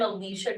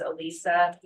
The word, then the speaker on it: Alicia: my passion great I'm Alicia uh I put the imaginary H in there because it's not spelled that way so when you read my name most people mispronounce it as Alisa um I'm at Ro